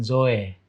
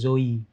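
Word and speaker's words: ζωή: bacanya pendeta Zoe zo kalau orang ya para sarjana ya membacanya dengan Zoe Zoe tapi orang gre bilangnya itu Zoi zo Oke karena Ita itu I tapi any nah ini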